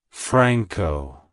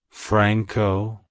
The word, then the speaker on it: Franco: Franciscus it's pronounced as Franco Franco Franco to pronounce it correctly emphasize the friend syllable and pronounce the o as a short o sound like hello Franco goodbye Franco if